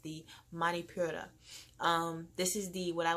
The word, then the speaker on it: Manipura: Then there is the solar plex chakra, which is yellow, and that is pronounced the Manipura.